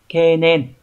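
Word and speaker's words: 懸念: Nhưng mà trong trường hợp đi với lại chữ niệm ấy, nó sẽ không đọc là ken đâu, nó đọc là ke nhá, từ này sẽ đọc là kenen, được chưa, này kenen.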